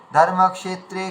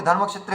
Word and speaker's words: ধর্মক্ষেত্রে: বর্ণান্তরে মিলিয়ে বলা মানে যেটাকে আমাদের খুব মানে ভেঙে ভেঙে বলা উচিত ছিল ধর্মাত্রে কুরুক্ষেত্রে এটা না বলে ধর্মক্ষেত্রে কুরুক্ষেত্রে তার মানে কি আমাদের